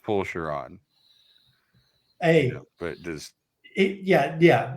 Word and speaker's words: Fulchiron: right yeah yes and it's pronounced P shiron hey but does yeah